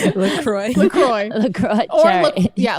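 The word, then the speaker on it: LaCroix: my lacrosse Cherry what is it called lroy lacroy lro or yeah lroy that's what you're supposed to pronounce it as lroy I like lacrosse religious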